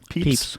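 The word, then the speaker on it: Pepys: say his name papy how would you say that peeps peeps um so at the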